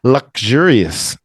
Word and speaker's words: luxurious: z-o-r-o yeah anxious okay luxurious that's a what is that one again the K the x is lug a g luxurious luxurious a g and a